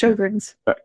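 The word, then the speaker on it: Sjögren's: I don't know how it's pronounced, like Sjogren's Sjogren's syndrome, I don't know if Oh, Sjogren's. It's pronounced Sjogren's.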